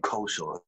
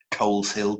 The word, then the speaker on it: Culshaw: And I was chatting to him about how many times my name, Culshaw, has been mispronounced as Coles Hill, Coleslaw, Cauliflower, all of them.